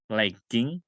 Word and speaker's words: legging: Oke, khusus untuk legging itu tidak dibaca J tapi G ya, legging.